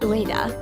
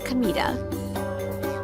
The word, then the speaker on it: Kamita: My name isn't Ua, it's Kamita. Same kanji, but read differently.